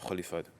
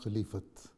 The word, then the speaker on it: Khilafat: We are marching towards the destination under the leadership of Khalifhat. The right word is not khalifhatil.